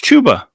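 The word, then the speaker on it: Chuba: him um let's see chubba hubbard i like the upside of him it's tuba okay i'm not arguing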